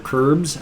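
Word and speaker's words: Crbs: Curbs, I would imagine it's supposed to be like crabs, but it's spelled C-R-B-S, so Curbs.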